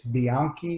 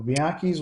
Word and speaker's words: Bianchi: And I was at a local gun shop years and years ago and found I think it's Bianchi is how it's said.